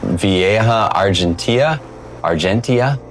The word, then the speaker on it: Vieja argentea: sure which it is, but this is a Vieja Argentea. I've heard it pronounced both ways.